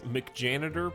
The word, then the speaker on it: McJanitor: Etal, your pronunciation is killing me. It's McJanitor. Please get it right.